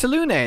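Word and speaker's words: Selûne: What isn't connected and really confused me was how deeply different you pronounce the word saloon in the same sentence. It's Salune. That's what the characters say when they talk about it, right?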